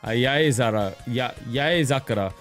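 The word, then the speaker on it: 八重桜: When the cherry blossoms pile up, it's Yaezakura. The great 8-headed serpent, Yamato no Orochi. It really is pronounced, yeah, whenever it means many.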